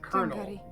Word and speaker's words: colonel: because like here in America We call we pronounce it kernel but like that's weird right